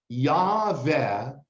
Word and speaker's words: Yahweh: Call me by my personal name, which is Yahweh." Yahweh is how you pronounce God's name. 4 Hebrew letters, Yod He Vav He. In Hebrew, names are definitions.